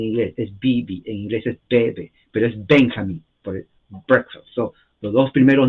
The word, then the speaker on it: Benjamin: poner bi en su su nombre es Benjamin o Benjamin la J es y en inglés Benjamin ah brick warfield es